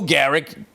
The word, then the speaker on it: Gehrig: That's when they had Babe Ruth, Lou Gehrig, and all of these fucking guys, or Lou Gehrig. That's how you pronounce it.